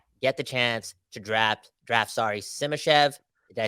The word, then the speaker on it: Simashev: At number 11, the Canucks this time around get the chance to draft Simashev. Did I say his name right? Simashev.